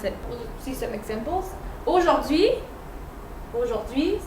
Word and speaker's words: aujourd'hui: Aujourd'hui. Aujourd'hui. So ash is here, but you don't hear it.